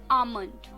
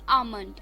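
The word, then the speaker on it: almond: फॉर the evening is आमंड ए एल एम ओ एन डी आमंड इसमें L silent है दोस्तों सो आमंड ए एल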